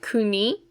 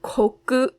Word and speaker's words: 国: this last kanji kuni so this by itself is just kuni a country but when we put it together with other kanji we usually pronounce it koku so it is for example the koku in gai koku or gai kokujin it's also the koku in chu goku and kankoku so this kuni or koku we're going to start